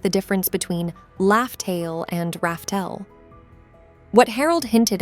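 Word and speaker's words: Laugh Tale: Roger named the island where Joy Boy left the One Piece Raftel, but as we later found out, the real pronunciation was actually Laugh-Tail.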